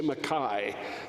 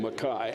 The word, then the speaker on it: McKay: language uh the real we don't say McCain's got them we say Makai that's the how you properly pronounce that name Makai anyway Adam McKay Makai